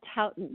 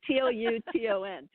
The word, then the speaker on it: Touton: It was Stop Houghton, Have a Towton. That's how I remember how to pronounce it. It's Touton. But it's a cross between a muffin and a crumpet.